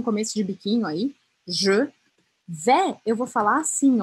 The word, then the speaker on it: vais: O S no final da palavra, não pronuncio. Então, fica je vé.